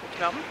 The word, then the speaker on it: Rotterdam: So it's pronounced Rotterdam.